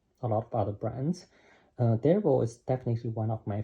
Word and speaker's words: Delvaux: Delvaux. The X doesn't pronounce.